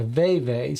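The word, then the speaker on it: vèvè: This is pronounced a veve, says Dorian. It's supposed to have accent marks above the E's to pronounce as hard A's.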